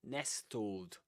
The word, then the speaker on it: nestle: So t l e, but you don't say wistl castle nor nestled. You say whistle, castle, nestle, or nestled in the simple past.